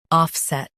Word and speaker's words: offset: Both US and UK have the same pronunciation of this word, offset. Now read the syllables shown on the screen naturally. Off, set, offset. Emphasize off and keep set clear.